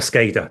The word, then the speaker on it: SCADA: could potentially come under scar as well or scada depending on how you pronounce it so these guidelines that